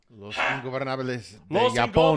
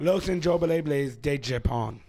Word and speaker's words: Los Ingobernables de Japón: And I'm Los Ingobernables de Los Japón. Ingobernables de Japón. Los Ingobernables de Japón. Thank you for Young Custodian's pronunciation.